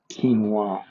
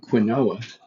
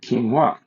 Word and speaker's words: quinoa: and he says well, that's actually pronounced quinoa. And I'm like, oh, thank you. I don't want to walk around too long, calling it quinoa, an absolute 100% mispronunciation when apparently it's called quinoa.